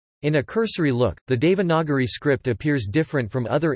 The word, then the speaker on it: Devanagari: Devanagari, Devanagari, Devanagari IAST, Devanagari, a compound of Deva, Deva and Nagari, Nagari Hindi pronunciation, Dinari, also called Nagari, Nagari, Nagari is